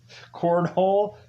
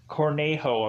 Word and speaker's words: Cornejo: named cornhole or cornejo cornejo cornhole no cornejo i'm sorry about pronouncing that